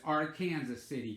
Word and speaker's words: Arkansas City: And it's spelled Arkansas City, but it's Arkansas City, Kansas. There was a movie star back in the 50s and 60s, I believe.